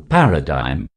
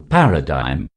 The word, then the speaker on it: paradigm: of the letter g we do not have to stress on the letter g in this word feel there is no g here now confidently say with me paradigm paradigm paradigm number 10 gauge this